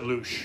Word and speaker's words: louche: I've always heard louche. Louche, yeah, that sounds right.